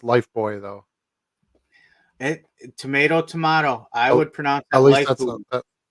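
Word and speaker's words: Lifebuoy: It's pronounced Life Boy though.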